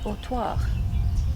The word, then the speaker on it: Autoire: And we are now in, correct pronunciation We are please? in Autoire.